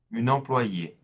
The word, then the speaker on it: employée: Un employé, an employee, une employée. Again, here we just add an E at the end, and it is silent.